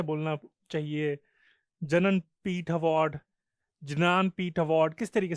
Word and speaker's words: ज्ञानपीठ: But actually it's pronounced as ज्ञानपीठ, ज्ञानपीठ award.